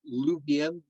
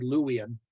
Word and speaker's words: Luwian: many aspects of of luvian or louisian sometimes I say lubien as of you know it's it's it's uh the German part of me uh you know we're pronouncing uh W's as V's but it is supposed to be louian but you'll see me say Luby and every now and then uh because of that that little slip there but um uh